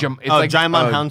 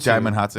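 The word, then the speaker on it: Djimon Hounsou: It's Jaimon Hansu. Jaimon Hansu.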